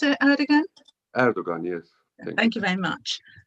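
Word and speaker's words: Erdoğan: Is that how you pronounce it, Erdogan? Erdogan, yes.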